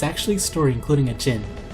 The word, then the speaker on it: Djinn: Yes, the Arabian story Aladdin is actually a story including a Djinn, not a genie. Like most instances of DJ, it is pronounced with a very soft or silent D.